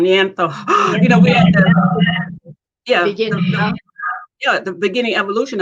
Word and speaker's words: Neanderthal: Is that we're at that Neanderthal. I keep saying it wrong. Neanderthal.